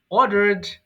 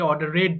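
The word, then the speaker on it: ordered: অর্ডার আদেশ করা অর্ডার অর্ডারড অর্ডারড এটাও ভুল করে অনেকে অর্ডার রেড বলে সো কমন মিস্টেক গুলো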